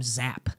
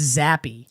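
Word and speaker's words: Zappe: I kept calling him Zap.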